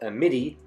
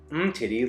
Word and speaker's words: Amiti: That is pronounced Amiti, not Umtiti like Samuel Umtiti, center back for Barcelona, or not like a pair of...